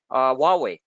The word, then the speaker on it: Huawei: sales back and forth, imports and exports from Huawei. Oh, I finally pronounced the name right.